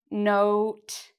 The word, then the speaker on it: note: One of these has a quiet E or a silent E, and one of them doesn't. How do I know that this needs an E? Well, I think, okay, the pronunciation. This is O. Does this have an O sound in it? Note. Note. It does. So that means, okay, there needs to be an E at the end.